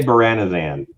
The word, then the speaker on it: Menzoberranzan: Menzoberranzan? Menzoberranzan. I say Beranazan, but I I'm probably really wrong. Officially TSR said that there's no wrong way to pronounce it.